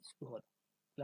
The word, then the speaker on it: সুধা: সুযোগ অধ তাহলে উচ্চারণটা কি হবে? সুদা সুধা সুদা সুধা উচ্চারণটা সংস্কৃত হবে সুদা আমরা আবার যে আমাদের